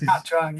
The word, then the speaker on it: Nha Trang: Can I say that I'm surprised that you pronounce very well the word Nha Trang. That is Nha Trang, very yeah.